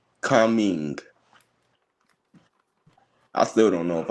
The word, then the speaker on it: Kunming: Conning. Wait. Kunming. Say it one more time. Kun with a K and Ming with an M. Kunming.